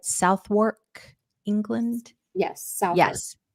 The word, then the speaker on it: Southwark: arms for and am I saying it right southwark England yes South yes southwark and that is very close to the tower